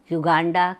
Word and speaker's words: योग: ने मुझे टोका था भाई तुम लोग योगा योगा क्यों बोलते हो वो गैर हिंदी भाषी हैं तो व अपनी स्पेलिंग में वाईओ जी के आगे ए लगाते हैं इसलिए वह लोग योगा बोलते हैं पर हमें तो योग बोलना चाहिए मैं फिर शर्मिंदा हो